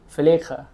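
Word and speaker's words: Failaka: What's the correct way of saying it? In Kuwait. Faleka. Felice. Faleka.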